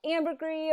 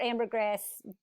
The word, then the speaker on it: ambergris: lecture and not talk about ambergris or ambergris pronounced both ways um most of us say ambergris and so um what